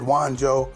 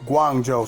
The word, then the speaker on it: Guangzhou: just wanted to make a correction on the pronunciation of the city that's buck wild and over there in China is Guangzhou I might have said Wan Joe I'm not sure but I just want to make sure I'm pronouncing the city right Guangzhou so in case